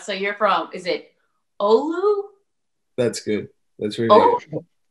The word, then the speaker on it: Oulu: So you're from, is it Oulu? That's good. That's really Oulu. All right. I'm pretty proud of myself. All right. Can you tell me a little bit about what Oulu is like?